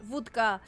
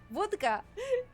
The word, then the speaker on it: wódka: Or proper pronunciation Polish, wódka. Because it's actually spelled the way like you said, like we write it in Polish. So I'm guessing we are saying it in the Polish way.